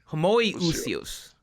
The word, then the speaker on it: homoousios: So it's homoousios or Yes. What is it? How do you pronounce the second one? Homoousios.